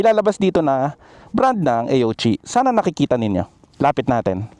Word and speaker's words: AOOCCI: Sa mga hindi pala alam ah, yung pagbigkas pala dito sa Aochi yung A oci is Aochi yan.